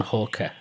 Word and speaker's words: Halker: today I'm talking over the internet with Halker. If I pronounced your name right.